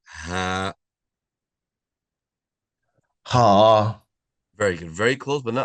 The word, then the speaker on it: ح: Letter Ha. Ha. Very good. Very close, but not ha, not ha, not ah, but right? So a flat sound.